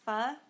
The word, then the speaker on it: pho: Paul's here life hacks have you all had pho or fun oh my gosh it's pronounced fuh listen I tell a